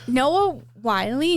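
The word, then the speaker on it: Noah Wyle: okay, Noah Wiley, is that how you say his name?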